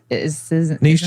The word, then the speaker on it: niche: Niche is the correct pronunciation.